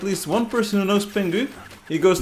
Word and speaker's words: Pingu: I'll tell you what, this word bingus reminds me of pengu. Does anyone know pengu? I can pronounce it more Dutch, pingu.